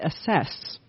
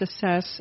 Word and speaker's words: assess: And I'd be like, no, it's pronounced assess, assesses, he assesses. He doesn't asses and that kind of thing.